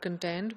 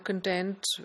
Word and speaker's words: content: will say contents so in a noun the stress is on the first syllable whereas in a verb